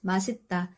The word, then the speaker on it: 맛있다: But these days people tend to pronounce this as masita. No one knows for sure. But maybe because it came from the phrase mashi and there are two e sounds people just simplified it to mashita or they just started